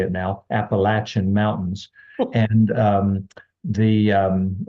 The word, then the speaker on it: Appalachian: years I know how to say it now Appalachian mountains and um the um and that's the